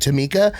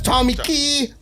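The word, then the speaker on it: Tomikki: assistant this lady named Tama but Tama was spelled t o m i k k i that's Tommy key but but but but she pronounced it Tama so that's how you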